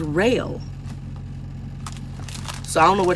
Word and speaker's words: Roehl: So ROEHL, which I've been calling it roll, is rail.